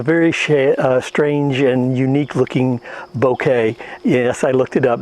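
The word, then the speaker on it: bokeh: it has a very strange and unique looking bouquet yes I looked it up that is the way it's pronounced and I'll show you that later with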